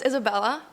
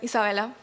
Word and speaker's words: Isabella: My name is Isabella or Isabella, whatever you want to pronounce it.